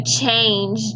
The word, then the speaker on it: changed: So changed. Do you hear T or D at the end? This time we hear Dippy Duck, don't we? Changed.